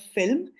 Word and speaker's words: Vilm: we went to this island called Film. It's spelled Vilm.